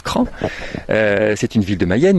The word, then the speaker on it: Craon: sud-ouest de la mayenne la ville de craon qui s'écrit travail mais qui se prononce crainte c'est une ville de